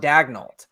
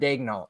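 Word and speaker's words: Daigneault: Like it's like the Thunder announcers on TV still pronounce Mark Dagnall instead of Dagnall.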